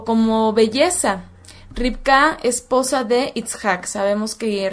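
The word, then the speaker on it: רבקה: Muy bien, pues el nombre de Rebeca en su idioma original, esto es en hebreo, se pronuncia Ribka, y se los voy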